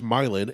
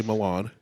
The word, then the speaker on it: Milan: We have Milan, which they pronounce Milin and get very mad if you say Milan.